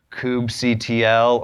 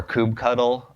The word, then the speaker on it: kubectl: and copy and paste this Kubb CTL or Kubb huddle depending on how you like to pronounce it coop huddle create - F and